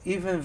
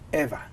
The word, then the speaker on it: Eva: But even though when you see her name, you may want to say Eve or pronounce it as Eve, don't do that, because they don't like to be called Eve. She likes to be called Eva.